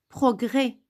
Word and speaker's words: progrès: Progrès, vous n'avez pas écouté S.